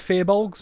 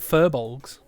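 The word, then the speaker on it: firbolg: fair bulb is well they are pronounced fair bulbs not fur balls which like to think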